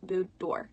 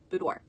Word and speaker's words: boudoir: question I get is how do you pronounce it spelled to be oh you do IR and it is this pronounced boudoir boudoir so I can question